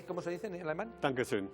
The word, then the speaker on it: Dankeschön: Dankeschön. Dankusen.